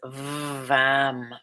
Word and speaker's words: Vam: The sound is VAM, V-A-M, and allow that V sound to vibrate.